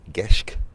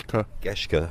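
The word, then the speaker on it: Geschke: giant ops and team Simon Kesh is that the right pronounce yes Koshka apologies the beards of the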